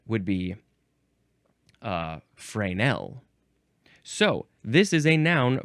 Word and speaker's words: Fresnel: most Americans they're like they see that s and they want to pronounce the s but I think the more more proper pronunciation would be uh frael.